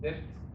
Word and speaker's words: debt: So, you know, like debt, Americans are in, they call it non-secure debt, which is credit card debt, car loans.